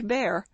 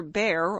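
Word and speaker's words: Bhaer: It isn't pronounced either bear or beer, as people will say it, but something between the two, as only Germans can give it.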